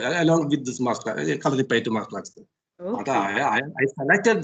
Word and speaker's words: Kalaripayattu: Once again, you pronounce that word? Kalaripayattu.